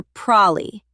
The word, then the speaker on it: probably: In fast, natural speech, native speakers often reduce probably to 2 syllables. Probably. You might even hear prolly, so don't be surprised when you hear that.